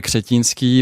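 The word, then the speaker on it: Křetínský: On on approche très difficilement justement ce cercle approché de Daniel Crétanski qui est un homme d'affaires que tu prononces à la française donc Daniel Ktinski.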